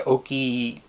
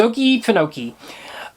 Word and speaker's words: Okefenokee: I'm going to mispronounce that a couple times through the episode because sometimes I tend to say Oki. I can't even mispronounce it the right way. Okefenokee. It's Okefenokee.